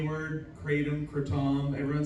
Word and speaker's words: kratom: So you have coca leaves, kava, and how do you pronounce the K word? Kratom, kratom.